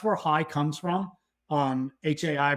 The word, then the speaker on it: Hai: High comes from um Hai pronounced just like you know H hello um so yeah a